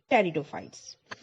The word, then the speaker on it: pteridophytes: Here the spelling, as you can see, P-T-E-R-I-D-O and P-H-Y-T-E-S, and the word P is silent here, so we must pronounce it as the pteridophytes.